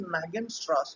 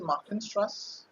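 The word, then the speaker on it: Magenstrasse: Anybody knows what is Machenstrass? Like you have Steinstrass, you also have Machenstrass. Where do you see Machenstrass? The G is pronounced like an H in the language. It's not Magen, it's Machen. Where do you see this?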